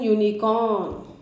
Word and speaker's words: unicorn: In these cases the pronunciation of u is yu and y is a consonant as in unicorn.